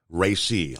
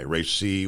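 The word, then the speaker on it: Raisi: Islamic Republic was a protoe I hope I'm pronouncing his name right uh REI r a i s i RI was a protoe of Iran's supreme leader the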